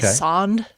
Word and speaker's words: sonde: It's a sand. S O N D E. S Sand Hub. Yeah, because a sand is just an instrument that measures something like a probe. Sand hub.